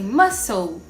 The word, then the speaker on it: muscle: Palavrinhas que têm o C, mas a gente não pronuncia o C. Como, por exemplo, em muscle, science, discipline.